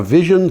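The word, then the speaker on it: Vizn: Vision, V-I-Z-N, Vision Energy Systems enables 24/7 solar nights at the lowest ever published cost. They pronounce it Vision.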